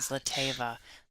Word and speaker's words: Zlateva: And just Tkach and Zlateva. Zlateva, I have to think before I say it because I used to say it wrong. How did you used to say it? Zlateva instead of Zlateva.